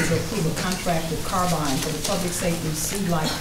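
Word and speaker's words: Carbyne: Madam Chair, this is, and when I say Carbine, it is spelled C-A-R-B-Y-N-E, not Carbine. I misunderstood sometimes when I say it. It's Carbine, our next generation 911 call handling solution for the E-91 Center.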